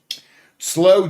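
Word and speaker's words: sloe: Slow gin is nice. It's it's spelled S L O E.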